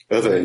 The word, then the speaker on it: Hervé: Well, the entrance of I can't pronounce his name. Is it Hervé? Hervé, yeah.